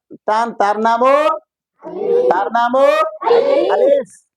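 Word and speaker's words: ألف: যদি লাঠি না থাকে, খাড়া দাগের নিচের দিকে ডাইনে তার টান, তার নামও, তার নামও আলিফ। আলিফ উচ্চারণ করতে গেলে এই ভিতর থেকে বাতাসের মতো বের হবে, বাতাস বের হবে, তাই না?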